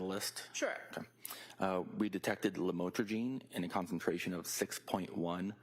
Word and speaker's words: lamotrigine: We detected lamotrigine in a concentration of 6.1 micrograms per milliliter,